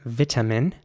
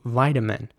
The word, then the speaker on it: vitamin: there at the beginning vitamin and a very strong t sound vitamin in american english the i at the beginning would be pronounced like an i so vitamin and the t would